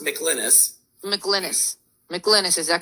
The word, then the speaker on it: McLynas: watch this for yourself now we have michelanis and i hope i'm pronouncing that correctly for pinellas county sheriff he's